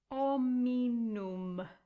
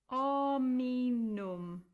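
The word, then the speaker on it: hominum: And then the next word, you're going to cross out the H because the H is silent, and it becomes ominum. Ominum.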